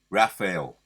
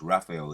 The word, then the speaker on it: Raphael: Gabriel you got Gabriel Raphael let me say it right it's Raphael he's in control of